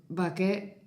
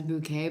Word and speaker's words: Bucket: Bucket, but she pronounces it as bouquet because she wants to be fancy, but she's not.